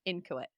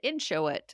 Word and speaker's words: inchoate: I've always pronounced it inchoate or something, but it's inchoate."